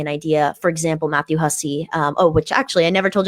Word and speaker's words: Hussey: So just getting an idea, for example, Matthew Hussey, which actually I never told you how to pronounce his last name.